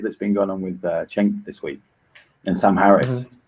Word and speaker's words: Cenk: Is it Cenk with a J? Oh, it sounds like a J, should I say? Yeah, forget the C. The C is fucking with you.